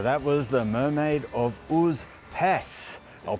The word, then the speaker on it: Užupis: So that was the mermaid of Pes. I'll pronounce it correctly this time.